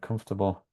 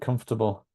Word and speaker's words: comfortable: syllables and uh but what about the stress what where does the main stress go there in this word comfortable which would you say is the the stressed syllable and comfortable is it comforable income